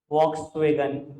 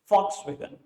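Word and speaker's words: Volkswagen: ठीक है जी सर, लिखते हैं वॉक्सवैगन, बोलते नहीं है। एड सुन लेना, चाहे कान लगा के सुन लेना, वो बोलते हैं फॉक्सवैगन। जर्मन कंपनी है, जर्मन में वी को एफ प्रोनाउंस करते हैं, फॉक्सवैगन।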